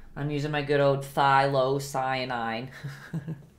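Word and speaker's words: phthalocyanine: I'm using my good old thylocyanine. I always pronounce it so wrong. I used to call it phthilo, but I heard the other day that the P is silent.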